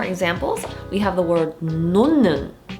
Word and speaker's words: 놓는: When the 받침 Hieut is followed by a ni은, a nasal sound, then the Hieut is pronounced like a ni은. Let's look at 2 more examples. We have the word 놓는, 놓는.